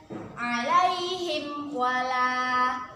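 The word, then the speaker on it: عليهم ولا: dengan huruf wow Hai Nah kita baca dengan jelas tanpa berdengung alaihim walaa alaihim walaa alaihim walaa jelas tanpa berdengung kalau kita membacanya ilaihim wala itu berdengung itu sah salah yang benar ada imw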